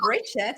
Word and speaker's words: Brigitte: hello everyone um I'm breaking the and everyone calls me Bridget so that is a very International kind of pronouncing my name so I go with